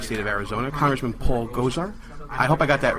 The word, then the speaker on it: Gosar: I just think about Ghostbusters.